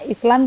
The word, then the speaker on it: island: Jadi nah kayak ini an island, atau ini tulisannya Island tapi kita bacanya island ya.